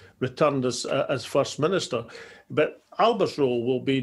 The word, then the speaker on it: Alba: So the Alba Party, or Alba, to give it its Gaelic pronunciation, will be going for the list vote, the regional list vote.